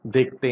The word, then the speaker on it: the: सबसे पहले इसको हम कैसे प्रोनाउंस करते हैं, द या दी। अगर नाउन इसके बाद जो आता है अगर वो कॉन्सोनेंट साउंड है तो हम द ही बोलते हैं, लेकिन अगर द के बाद आने वाला नाउन वॉवल साउंड